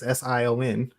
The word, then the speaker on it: Sion: So the Eye of Sion is also another KOTOR reference, because Darth Sion, and it's spelled the same way. It's Sion.